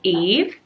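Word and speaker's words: Yves: is quite well known obviously it's French so the Y is silence maybe that's a bit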